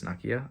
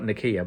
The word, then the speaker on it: Nakia: And um Nakia, I think it's Nakia. Um not Nakiyah, but it is spelled the same way.